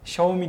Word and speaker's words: Xiaomi: pazarda Huawei diye okuyorlar Bir de xomi diye yazılan Xiaomi diye okunan başka bir Çinli Premium marka var o da Xiaomi diye Galiba kendini l